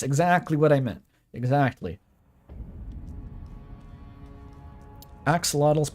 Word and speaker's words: axolotl: what I meant exactly axolotls pronounced Ash loach in the Indigenous language Axolotl sounds funnier though adelato ch kind of